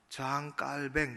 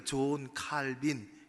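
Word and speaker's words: Jean Calvin: 여러분들이 읽을 거리로 받으셨는데, 장 깔뱅, 보통은 그 나라 말을 이제는 따라서 프랑스 사람이었으니까 장 깔뱅 그렇게 얘기합니다. 흔히 우리가 존 칼빈, 영어식 발음이죠.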